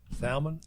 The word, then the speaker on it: salmon: also i'm confused that both of y'all take the time to pronounce the l which i can appreciate but you know most of the time it's just salmon i got i like